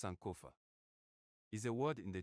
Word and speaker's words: Sankofa: Pronounced Sankofa, is a word in the Twi language of Ghana meaning to retrieve.